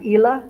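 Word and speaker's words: Ilha: ha I'm gonna say it's Ila like Island IL muso muso muso my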